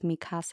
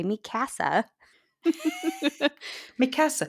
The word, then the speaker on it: Mikasa: phonetic pronouncer so like instead of Mikasa I would say Mika Massa that's kind of what